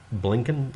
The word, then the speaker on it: Blinken: of state anthony blinken blinken is actually how it's pronounced apparently none of these